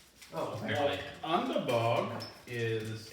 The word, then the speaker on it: Underberg: actually pronounced Underberg. Oh, Apparently. Underberg is a...